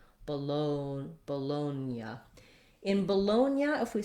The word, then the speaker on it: Bologna: way we do um the g does influence the n we don't say it with a g g sound but we do have a ya sound after the n so it's kind of like they switch places um and we again have our oh diphthong so trying it from loan you can try lonya like i'm gonna loan you some money and then add the ba but people don't often